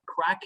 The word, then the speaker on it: craic: you right now so crack in ireland does not mean um you know uh those rocks that ones that would smoke in a pipe uh it means a good a good old time so it's spelled c-r-a-i-c right okay you know oh